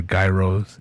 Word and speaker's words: gyros: in chicago and really they're called gyros right so then i know that you know it's like they're the professional the right way to say it but if you didn't call them gyros or gyros or guy rose if you didn't call